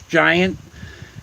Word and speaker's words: Gint: Rules of acquisition were originally created by Gint, G-I-N-T, but if you pronounce it phonetically, it's giant.